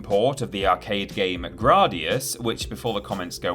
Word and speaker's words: Gradius: the 1986 home port of the arcade game gradius which before the comments go wild is actually pronounced gradius and not gradius according to the japanese title